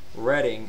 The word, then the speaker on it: Reading: I'm reading a book. No. Reading is a name, and it's pronounced that way. Reading, spelled the same, but the action or the verb, the adverb of it is pronounced reading.